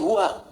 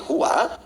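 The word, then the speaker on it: هو: Nah, huwa, itu kalau kita ingin berhenti di huwa, maka A-nya nggak dibaca. Contoh ayat kursi Al-Baqarah ayat 255. Allahu la ilaha illa hu. Huwal hayyul qayyum itu kalau nyambung, kalau berhenti di hu bacanya hu.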